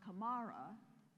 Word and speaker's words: Camara: so if you mispronounce my name which is pronounced Kamara I will correct you but other people who